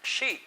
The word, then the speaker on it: she: Recuerda que no es chi, sino con SH, como cuando haces el ruido o la señal de silencio cuando alguien está haciendo ruido.